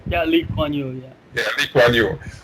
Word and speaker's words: Lee Kuan Yew: Like Lee Kuan Yew, is that how it's pronounced? Yeah, Lee Kuan Yew, yeah.